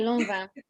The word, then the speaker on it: Lanvin: I say Lanvin. Lanvin, okay, guys, let's get our right. That's what I say.